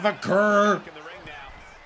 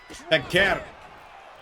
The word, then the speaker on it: Vaquer: It's not Vaquer. Corey Graves. Vaquer. Learn how to pronounce Chilean names.